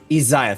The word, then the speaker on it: Isaiah: He is like staring down fucking how do you pronounce his name again? It's Isaiah, Isaiah, thank you.